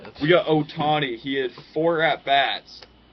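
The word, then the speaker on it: Ohtani: But close second is Show Otano, I think is how you pronounce his name. Otani.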